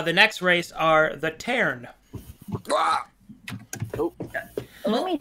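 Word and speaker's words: Tearn: the next uh the next race are the taren let me spell it out for you so the taren the taren spelt t-e-a-r-n are a race of bat people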